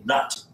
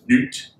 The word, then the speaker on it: Nut: They sound funny in English, but this goddess is named Nut. N-U-T. You probably pronounce it Newt, something like that.